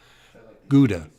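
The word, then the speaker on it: geuda: milky grey you know they call it giuda whether that's right pronounced in h pronounciations g-e-u-d-a gouda gouda like gouda cheese yeah kind of like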